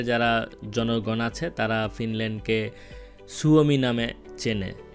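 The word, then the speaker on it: Suomi: আমরা ফিনল্যান্ডকে খুব সহজে ফিনল্যান্ড বলে চালিয়ে দিলেও ফিনিশ যারা লোকজন আছে অথবা ফিনল্যান্ডে যারা জনগণ আছে তারা ফিনল্যান্ডকে সুওমি নামে চেনে।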